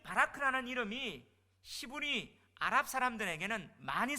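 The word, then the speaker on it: Barack: 자, 이 바라크라는 이름이 히브리 아랍 사람들에게는 많이 쓰여졌어요. 바라크, 복이란 말이에요. 그래서 미국의 44대 트럼프 대통령 전임 대통령이 누구였죠? 오바마 이름이 뭐죠? 보락이 바라크예요.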